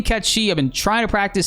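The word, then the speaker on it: Cait Sith: comments from people saying hey it's actually catchy you're saying it wrong look it up whatever I looked it up they were right you know in Scottish uh Gaelic pronunciations is actually catchy go with the pronunciation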